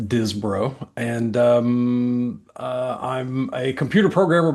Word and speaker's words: Disbrow: It's a family and nickname cuz the last name's pronounced Dizbro.